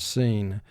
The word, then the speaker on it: scene: ra as in rhyme sc represents the sound s as in the word scene in order for sc to be a team it must be followed by e i or y these are all